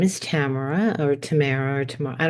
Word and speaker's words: Tamara: goes well you know it's a Russian name and it's pronounced Tamara I'm like I love